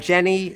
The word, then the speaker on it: Jenny: And then Jenny, stress on the first syllable.